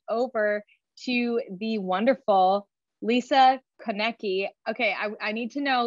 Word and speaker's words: Konecki: Well, if it goes Konecki, it is a hickey from a Hallmark store, but it's usually it's Konecki. Like Kennedy with a kick.